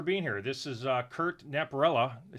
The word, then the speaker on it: Napierala: This is Curt Napierala.